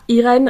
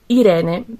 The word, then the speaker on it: Irene: Mon vrai prénom ce n'est pas Irène. J'ai francisé mon prénom parce que quand je suis arrivée en France, je voulais pas qu'il soit prononcé mal. Mais mon vrai nom c'est Irene parce que je suis d'origine italienne. Je suis arrivée en France